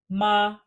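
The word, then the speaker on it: 妈: one more time how next ma ma like mom ma this character in fact means mother MA and that piece that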